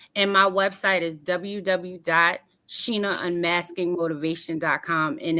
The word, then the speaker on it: Shana: make sure y'all understand my name is spelled like Sheena but it's spelled like Sha but it's pronounced Sheena Sheena Sheena Sheena I will say